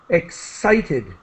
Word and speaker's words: excited: Excited with a S sound, excited, and turned again.